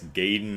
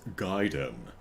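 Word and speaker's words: Gaiden: I guess gayen is just one of them. No, young Andrew. It's Giden.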